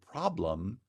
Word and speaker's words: problem: Or the last example, now again a WH question, so also has falling intonation, but this time the word problem is stressed on the first syllable, so the placement of the accent is on problem, and you get a step, falling step intonation.